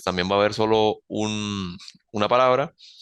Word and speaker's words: un: va a haber solo una palabra y en singular vamos a conocerlo. Un en español, en francés se escribe igual, pero se pronuncia un, un, bien, muy parecido a la A nasal, un.